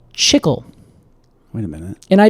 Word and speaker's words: chicle: I think it's pronounced chicle. Chicle? Is that maybe it? Chicle. Chicle. Yeah. Chicle. I have been pronouncing it chicle this whole time. Oh, Casey. Oh, no, Alex. I really hope you haven't done this in front of any Hispanic people.